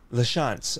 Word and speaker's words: LaChance: Is it pronounced? LaChance. Yes. Kind of like French.